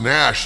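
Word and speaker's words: gnash: and gunach their teeth I know the word is pronounced Nash normally but I say G Nash because oh [ __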